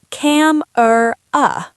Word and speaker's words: camera: The word is c a m e r a. Textbook, cam-er-a. Real life, camera.